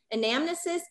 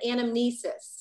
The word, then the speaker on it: anamnesis: Because I've heard it pronounced anamnesis and anamnesis. Yeah, both. I've heard it said both ways.